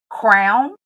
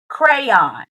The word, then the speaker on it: crayon: So, do you pronounce it crown as in, oh, I know I'm a queen. Where's my crown? Or do you pronounce it crayon? Crayon. Cray as in cray cray, but crayon.